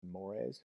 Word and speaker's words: mores: societal mores that's that this term right here is pronounced mores according to these three and in a study